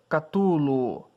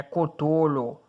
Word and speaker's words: Cthulhu: Catulo. Gustavo. Se pronuncia Clatulo. Ok. Desculpe. Oh, grande... Não. É Cthulhu.